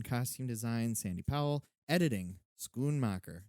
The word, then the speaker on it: Schoonmaker: design sandy powell editing schoonmacher is that how you say it schoonmaker schoolmarker was i write the first time screwmaker it's schoonmacher and scorsessie get it right people but it also